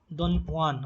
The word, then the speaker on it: Don Juan: And if you talk about like Lord Byron, okay, Lord Byron, he wrote stuff like Don Juan, okay, Don Juan. J is silent here.